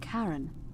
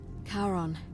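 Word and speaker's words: Charon: it's just as you described it only your pronunciation is a little off the name you heard wasn't karen it was c h r as in caron the ferryman of the dead karon who in exchange for the right coin helps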